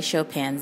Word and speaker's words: Chopin: now I'm gonna say Chopin's name the way to everybody says Chopin Chopin but if you care to not pronounce the end so much Chopin you can do that so Frederic Chopin